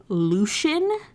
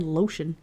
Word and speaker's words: Lucian: name with such hate it's supposed to be pronounced Lucian I Lucian no offense hey no offense Lucian is a horrible way to pronounce that name I'm not calling this man lotion sorry anyway so he